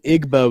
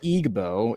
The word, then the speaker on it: Igbo: Igbbo is pronounced Igbo.